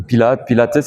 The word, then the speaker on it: Pilates: Bon, Pilates, ils appellent ça Pilates, ils prononcent le S.